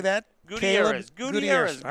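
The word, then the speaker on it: Gutiérrez: Gutierrez. Caleb Gutierrez. All right, Gutierrez.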